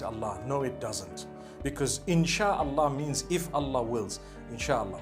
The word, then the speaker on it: Insha Allah: Inshi is the amr. It is the instruction, right? The command. Inshi means to create. No one says Inshi Allah. They say Insha Allah. That's what it is.